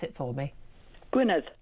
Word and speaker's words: Gwynedd: Gwynedd. Gwynedd. Oh, it's the th instead of the d.